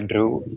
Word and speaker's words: Dhru: So So it's pronounced Drew.